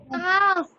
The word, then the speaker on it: calf: calf Calf. cough, अब cough, L silent है, balm में L साइलेंट है, काफ में L साइलेंट है।